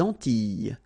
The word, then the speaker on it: Antilles: So here it's quite interesting because, well, you've got this E and then double L, S. Okay? So final S and really you don't pronounce them. So you get this E sound.